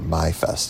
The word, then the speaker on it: Maifest: Hermann is a very German-influenced town, and it happens to be Maifest, or Maifest as it would be pronounced in German.